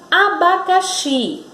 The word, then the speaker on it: abacaxi: A palavra abacaxi. Na palavra abacaxi, veja que o som que sai da nossa boca, que é pronunciado, ele saiu com mais força no xi. Abacaxi. Então, esse impulso está no xi.